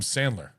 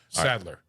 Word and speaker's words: Sadler: uh the the Knight is it William Sandler incorrect Sadler Saddler there is no in all right um